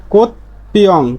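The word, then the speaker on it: 꽃병: ব্যঞ্জন বর্ণের মতো সাংজিগুত, তাহলে এর উচ্চারণটা চ, তাহলে উচ্চারণ হবে কি ওত চাং, ওত চাং। তাহলে তেমনি ভাবে এর উচ্চারণটা কি হবে বিউপের উচ্চারণ প হয়ে যাবে, তাহলে কোত পিয়ং, কোত পিয়ং, কোত পিয়ং।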